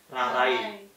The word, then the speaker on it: rarai: Rarai. Dibacanya kan Rarai pakai I. Kalau lama-lama kita coba bilang Rarai, lama-lama kan Rare. A sama I itu blend dia jadi I. Kayak logat Sukawati jadi Rarai gitu.